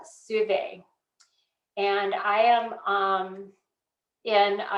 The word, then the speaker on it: Suave: her on instagram and her name is spelled like suave s-u-a-v-e it's alexandra souvay and i am um